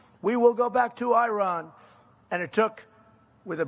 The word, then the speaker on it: Iran: And the man said, no, we are going back to Iran. See, now I say Iran. I don't use because he obviously has a correct pronunciation. We will go back to Iran.